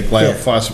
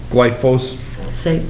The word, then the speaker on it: glyphosate: the companies that made I say glyos which is I'm saying it wrong glyos glyphosate well yeah that before